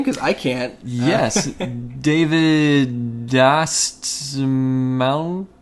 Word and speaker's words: Dastmalchian: David Dastmalchian? Dastmalchian? Good job. Good job. I would have butchered it way worse.